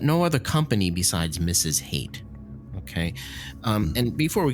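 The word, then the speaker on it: Haight: And so his teacher's name, by the way, is Mrs. Hate, and it's spelled H A I G HT T like Hate Ashberry.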